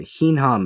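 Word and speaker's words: hinham: love it yeah uh hinam it's spelled h i n h a M and if you try to say that with a you know heam heam heam it it sounds like a donkey it's great oh man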